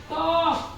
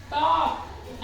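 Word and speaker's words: talk: जैसे अगला है टॉप यहां आप इसको बोलेंगे टॉक टॉक एल का यूज नहीं किया वैसे ही हाफ एच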